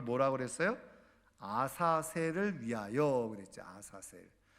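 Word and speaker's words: עזאזל: 그랬어요 아사를 위하여 그랬죠 아사셀 정확한 히브리어 바라보면 아자젤 이렇게 발음할 수 있는데 그 아이라고 하는 뜻이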